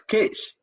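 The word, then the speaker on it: Khis: K-H-I-S, Kish. That's how they pronounce it. Not Kush, but Kish.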